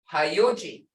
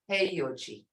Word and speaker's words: Heyuji: Okay, everybody mispronounces this. They'll say Hayuji. But they're doing it in English. Hi, here, see that hi? Hayuji. It's actually Heyuji.